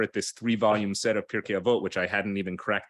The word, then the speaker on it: Pirkei Avot: But this one says Pirkei Avot, or it doesn't say Pirkei Avot, it says Pirkei Avos, like in the old Ashkenazi pronunciation, the sage's guide to living.